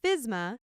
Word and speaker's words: FSMA: The food safety modernization act, commonly shortened to FSMA, and pronounced fyz-ma, is a federal law.